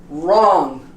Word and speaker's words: wrong: sound does not appear we don't say rock wrong we say wrong list we don't pronounce